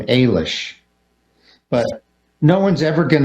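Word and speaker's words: Eilis: yeah it did and the general consensus is that you say her name Ailish but no one's ever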